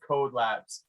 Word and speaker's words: Codelabs: Is it Kode? Is it Code? It's pronounced Codelabs.